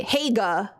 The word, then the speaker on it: Hague: thank you thank you it's hag in English but hog in Dutch ha how you said it's probably closest to the Dutch pronunciation yeah see that's what